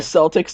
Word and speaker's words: Celtic: what it's going to be whoever named the celtics needs to be punched in the face i